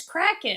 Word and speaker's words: Kraken: It's Kraken. Kraken. Okay. Kraken. Like crack addict.